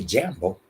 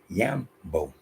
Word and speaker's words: Jambo: Because one more time, in Kiswahili, the J is a Y in the beginning of a name, place, so on and so forth. In the middle, if I say Jambo, I'm supposed to say Yambo.